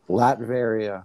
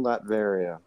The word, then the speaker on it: Latveria: also wears his armor latveria new latveria it sounds like latrine like if i did